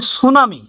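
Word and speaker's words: tsunami: এটি এর কাজ আছে এখন আমরা উচ্চারণ করবো না মানে টি থাকলেও সুনামির মতই সু বলব কিন্তু এই টি এর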